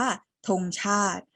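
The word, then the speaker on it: ธงชาติ: เรือ ใช่ ไหม คะ ส่วน คำ ว่า ธง ชาติ ช ช้าง สระ อา ต เต่า สระ อิ แต่ เรา ออก เสียง สระ ไหม เรา อ่าน ว่า ธง ชาติ เรา อ่าน ว่า ธง ชาติ แล้ว ก็ คำ สุด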